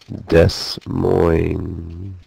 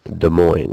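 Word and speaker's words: Des Moines: number 13 Iowa's capital Des Mo or De Moine as they call it we have to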